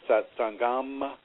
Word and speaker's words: satsang: Uh you can pronounce it satsanga satsangam or satsang which is what I'm doing.